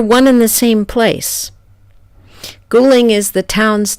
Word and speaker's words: Guling: to Ghoulie there one in the same place cooling is the town's name in mandarin and qu yang is how you pronounce it in the local Virginis dialect 100